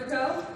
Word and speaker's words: Foucault: Anyone ever heard of Foucault? Old French dead white dude, right? F-O-U-C-A-U-L-T. F-O-U-C-A-U-L-T. Foucault. Yes, I know we don't pronounce many of those letters, we just skip that part.